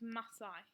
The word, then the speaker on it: Masai: Just a few words that are a bit tricky to pronounce in there. One of those is Masai.